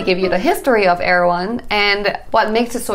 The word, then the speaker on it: Erewhon: about going to heirloom erawan market pronounced air one is a california luxury